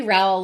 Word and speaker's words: Rowell: just spelled it correctly Raul like pal uh but on the